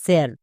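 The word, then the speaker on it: sir: যেমন এফ আই আর এস T, first, S এইচ আই আর টি, শার্ট, এস আই আর, এটা কিন্তু সার হবে না, এটা হবে স্যার।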